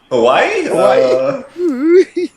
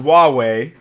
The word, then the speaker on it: Huawei: And he knows there's an H and like 4 W's and like 3 Hawaii? It's pronounced Huawei, apparently.